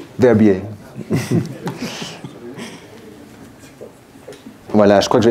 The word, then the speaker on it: Verbier: On prononce Firbier et puis on ne sait pas ce que ça veut dire. Verbier.